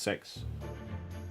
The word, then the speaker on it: CeX: This is an Elgato Wave 3 which I picked up for cheap in in the local um CEX pronounced sex.